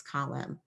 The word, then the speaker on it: column: order to spell it, we'll make two chunks: call, k, o, and then uh, and then stick on a silent N at the end, column.